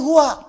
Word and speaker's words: huwa: Hu itu singkatan dari huwa. Singkatan dari huwa. Hu disingkat huwa. Kalau Anda wakaf membaca kalimat bahkan dalam bahasa Arab, apalagi Al-Quran, berhenti pada kalimat huwa, maka huwa-nya nggak bunyi. Bacanya hu.